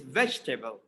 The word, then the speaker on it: vegetable: vegetable vegetable vegetable but in the british pronunciation e is silent the fourth letter after g e is silent so it is vegetable vegetable vegetable vegetable potato